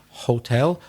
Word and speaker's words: hotel: Strong on the second syllable.